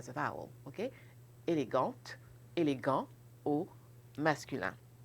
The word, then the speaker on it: élégante: ok mais patricia et élégante et à ce moment là on prononce la consonne final ce qu'en général on